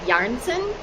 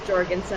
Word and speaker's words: Jorgenson: it's Danish northern European I think the original pronunciation is like yarson oh but the Americanized version is jensson jensson yeah yes great